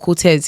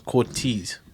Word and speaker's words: Cortez: Whenever Clint is talking about Cortez, he never says Cortez.